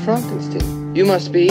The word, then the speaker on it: Frankenstein: before we proceed I have one question Dr Frankenstein spider that's Frankenstein you're putting me on no it's pronounced Frankenstein you must be eigor now it's pronounced iore